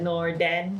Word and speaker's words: Norden: It's called the Norden, spelled like Nor and Den, like Norway, but Norden, like dog's den.